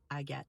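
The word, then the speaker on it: Agathe: not believe how many young girls were named I get in France. This is the French version of Agatha. But again, the spelling and the pronunciation is slightly different. It's not Agatha, but I get.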